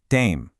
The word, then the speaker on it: têm: For they have, it's vocês têm. Did you see that little hat, that little accent on the E? It changes the sound just slightly, making it more nasal.